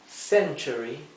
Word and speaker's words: century: Century es siglo. Century también es esdrújula.